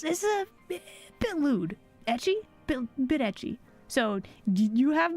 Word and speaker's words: ecchi: Like edgy? No, not edgy. Etchy.